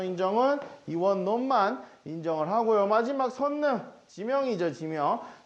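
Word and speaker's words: 선릉: 마지막 선능, 지명이죠. 지명. 선능이라고 발음하기도 하고 릉이라고 발음하기도 하는데 인정은 선능을 인정하더라.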